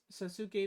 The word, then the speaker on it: Sasuke: Lines The references to red Naruto versus Ichigo or Sasuke versus Heal. Did they reference that? I'm sorry. How do you? It's Sasuke. It's pronounced Sasuke, not Sasuke.